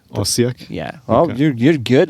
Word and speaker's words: Osijek: It's called Osijek. Osijek? Yeah. Oh, Okay. you're good with pronunciation.